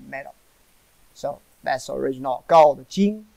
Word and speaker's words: 金: So that's original gold, jing, pronounced as jing, follow me, jing.